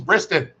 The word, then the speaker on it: Briston: It's not Bristol, it's Briston.